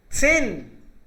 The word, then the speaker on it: zehn: सेन, 6, H silent रहता है बीच में आता है तो इसलिए सेन है ये।